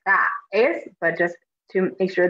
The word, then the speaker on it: traes: the A and E, traes. So make sure you're pronouncing them kind of separately, but it doesn't have to be like super separate, like traes, but just to make sure that the letters sound distinct.